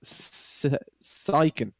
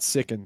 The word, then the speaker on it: Syken: So that guy there, his name is pronounced Syken. Not Sicken, Syken. Syken. I had this out with the German community the other night on Meisterschaft, and it is Syken.